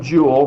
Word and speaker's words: joule: 1 joule, rhymes with pool, is done when a